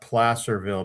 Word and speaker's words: Placerville: And for the people in California, we pronounce that Placerville because Placer has something to do with the gold rush.